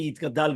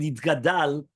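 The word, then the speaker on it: יתגדל: The person reciting Kaddish must make sure to pronounce the word Yitgadal correctly and not mistakenly as Yitkadal, replacing the gimel with a kof. He says that word means he will grow a neck, and it is altogether inappropriate for Kaddish. Likewise, he must not pronounce the word as Yidgadal with a dalid.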